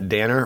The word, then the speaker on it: Danner: really neat um the Elena Danner rhymes with Tanner um swamp which is